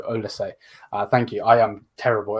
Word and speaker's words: Olise: do with um uh surname is pronounced O say O say okay thank you bro thank you thank you thank you thank you so ol say thank you I am